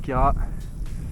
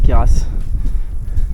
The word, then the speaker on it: Queyras: Ça promet d'envoyer ce petit tour du Kéra. Et oui, on n'est pas des serpentards, faut pas prononcer le S, faut pas dire Kéras. On est venu à bout